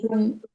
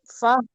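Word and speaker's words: فاحكم: লাহুম বিমা কাসাবু তারপর ফাকুম বাইনাহুম বিল হাক্কি ফাকুম হাটা উচ্চারণ হচ্ছে না তো ফাহকুম ফাহকুম বাইনাহুম বিল হাক্কি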